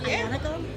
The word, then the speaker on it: Aglianico: It's made out of a South Italy style grape called, phonetically it's Aglianico, but it's pronounced Ianico. And so it's primarily Ianico, and then I blended in a little Syrah.